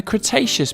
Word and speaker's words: Cretaceous: about a hundred million years ago in the cretaceous period kra tay chess so what have we learned we learned